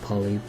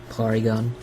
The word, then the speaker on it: Porygon: it was going to evolve poly it's not poly Porygon I think his name is polygon in the Japanese version but they pronounce it as Porygon anyway um that's all